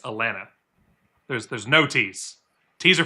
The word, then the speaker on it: Atlanta: If you're a younger person from Georgia, you're going to go with Atlanta. Second T drops. And if you're an older person from Georgia, it's Atlanta.